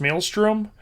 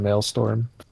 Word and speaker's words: Maelstrom: by the way uh if you mispronounced Maelstrom uh Emerald will have a word with you I was I was just messing with the Echo the other day because it kept saying mail storm It's Raining Men it